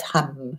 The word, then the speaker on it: hum: Pronounced hum, not ham.